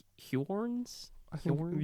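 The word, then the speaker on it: Huorns: some other creatures called Hjorns. I think Hjorns? usually pronounced horns, I think. Brother, there's a U in it. I know. Is he French? H-U-O-R-N-S. Yeah. That's not pronounced horns.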